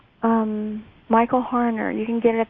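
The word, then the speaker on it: Harner: Um Michael Hner.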